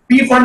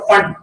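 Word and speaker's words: Pfund: पैस्टन bracket end फंड, पी फंड आप लोग बोलते हैं, लेकिन एक्चुअली नेम जो है वो पी को साइलेंट होता है, फंड उसका नाम है, राइट।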